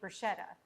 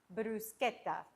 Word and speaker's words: bruschetta: A lot of people say bruschetta. No, guys, it's pronounced bruschetta.